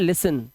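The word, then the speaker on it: listen: अब देखिए कैसे यहां पर देखिए टी एन आया तो इसे पढ़ते हैं लिसन। क्या पढ़ेंगे? लिसन टी साइलेंट है।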